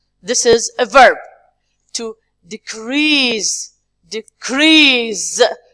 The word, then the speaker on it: decrease: To decrease. Decrease. This is the second also part. If it is a noun, decrease we say. But the verb is decrease.